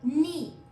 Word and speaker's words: knee: KNEE, नी। ये इसमें के जो है वो साइलेंट है, उसका साउंड नहीं आ रहा, नी।